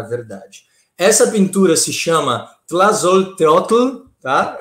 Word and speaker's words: Tlazolteotl: Essa pintura se chama Tlazolteotl, tá? Eu pratiquei aqui em casa para impressionar vocês com a minha pronúncia do Nahuatl, tá? Porque essa é uma palavra asteca, né? E Tlazolteotl, talvez, né?